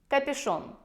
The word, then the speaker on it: капюшон: стиля и это капюшон Обратите внимание на произношение капюшон букву Ю фактически заменяет буква и мама говорит ребнку пойдёшь